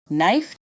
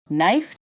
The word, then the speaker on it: knife: you'll get the hang of it examples of silent letters silent k knife KNE no repeat after me knife knee no silent B thumb lamb climb repeat